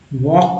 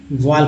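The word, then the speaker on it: walk: जैसे LK में L का उच्चारण नहीं होगा, सिर्फ K का होगा, तो WL को क्या पढ़ेंगे, वॉक पढ़ेंगे, वॉक, न कि वॉल्क पढ़ेंगे।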